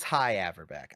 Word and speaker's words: Hy Averback: I think it is high averbeck. I think hy is high. I think if it were hey, there would be another vowel in there.